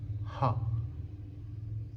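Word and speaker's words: هاء: And finally, for our last letter in this video, is the letter ha. ha ha Like as in Henry or hotel.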